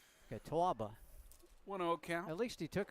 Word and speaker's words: Catawba: Catawba Valley Community College do you pronounce that out the W there is it yeah that's your Yankee coming out boy tawbah okay at least he